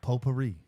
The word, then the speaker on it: potpourri: that potpourri. The tea is silent.